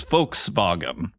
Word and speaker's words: Volkswagen: English-speaking people call it the V is an f and the W is pronounced like a v in German so actually the German pronunciation since you asked is folks vagen for your information and